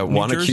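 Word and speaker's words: Wanaque: Spa weekend with our friend Peter up in Wanacue, right? Is that how you say it? Yeah, Wanacue, New Jersey. Yeah, I had to ask him how to pronounce that.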